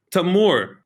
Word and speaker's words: Tamoor: you very much it's uh it's always lovely tamor right yes did i pronounce that right my name is that yes